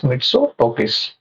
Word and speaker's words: Mitsotakis: Sorry guys, I can't able to pronounce the name properly. It is Mitsotakis.